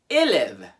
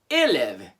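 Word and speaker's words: élève: to five go for it this one is pronounced elev elev you have uh accented and you have uh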